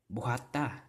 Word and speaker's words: buhata: Buhata, right? Buhata. Again, the last syllable will take the stress.